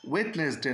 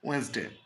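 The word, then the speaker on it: Wednesday: students এখানে ওয়েনসডে এখানে উচ্চারণটা ডিটা উচ্চারণ হয় না এজন্য হয় ওয়েটনেসডে না হয়ে হয় ওয়েনসডে এখানকার উচ্চারণ সঠিক উচ্চারণটা হয় ওয়েনসডে এরপর আমরা বি নাম্বার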